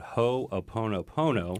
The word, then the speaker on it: Hoʻoponopono: hawaiian process again it's called ho oponopono ho opono pono you told me my pronunciation was spot on yes i don't know